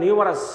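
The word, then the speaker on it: numerous: ইট হ্যাজ, যেটা বলছিলাম এটার উচ্চারণটা নিউমারাস।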